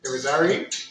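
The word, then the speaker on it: Irizarry: My good Judy, Irizary. I feel like I always say it wrong, but it's Irizary.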